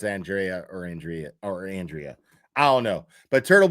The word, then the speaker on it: Andrea: But Turtle Boy, you were right about Andrea Burkhart is how you say her name, not Andrea. I got it wrong. She confirmed it on Twitter today. She just didn't correct me, but it's Andrea.